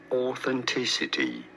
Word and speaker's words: authenticity: as the pronunciations differ in British English this is normally pronounced as authenticity you don't want to stress on the third syllable okay you can just